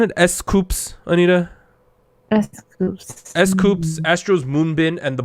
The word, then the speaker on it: S.Coups: 17 is, do I pronounce it S.Coups, Anita? S.Coups.